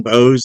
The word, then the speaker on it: Boese: If you go to my Pinterest, Dean Bose, that last name is spelled Boese.